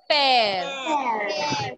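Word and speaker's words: père: Pear.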